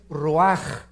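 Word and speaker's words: רוח: es j nepe y la palabra espíritu es ruaj se escribe ruach entonces vemos aquí dos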